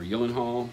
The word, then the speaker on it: Gyllenhaal: that featured Jake in Maggie Gyllenhaal or Gyllenhaal as they pronounce it and drew Barrymore